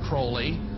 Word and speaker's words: Crowley: He likes to have his name pronounced Crowley to rhyme with holy.